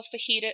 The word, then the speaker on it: fajita: But if you think about how fajita is spelled, it's spelled with a silent J. If we were to spell it phonetically, we're going to spell it how it sounds. So it sounds like F-A-H-E-E-T-A.